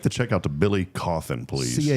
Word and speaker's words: Cauthen: Make the check out to Billy Coffin, please. C A U T H E N. We have to keep this. Possibly the easiest last name ever that always gets mispronounced.